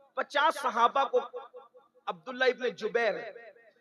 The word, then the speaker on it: جبیر: اس درے پر 50 صحابہ کو عبداللہ ابن جبیر, زبیر نہیں بلکہ جبیر, جیم سے جبیر, تھوڑا سا آج کل